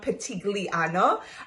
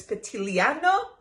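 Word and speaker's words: Pitigliano: this gorgeous Tuscan town petit Ileana I got it wrong you don't pronounce the G so thank you people out there so it's Patti Liana without the G I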